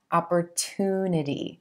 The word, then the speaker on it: opportunity: English, we use a true T here, opportunity, and emphasizing that oo as in blue sound in that 3rd syllable, opportunity.